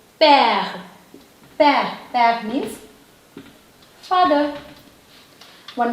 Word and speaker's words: père: This is P. This is A. This is a sound. A. This is h, and this is silent letter. So it is père.